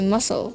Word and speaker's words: muscle: is the silent muscle we don't say that do we no we say muscle muscle and the next one